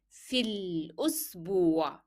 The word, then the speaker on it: في الأسبوع: So the alif that is coming after this vowel will not be pronounced. So you will move from yeah directly to lam. في الأسبوع.